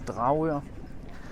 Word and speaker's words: Dragør: The Danish way to pronounce it is Dragør.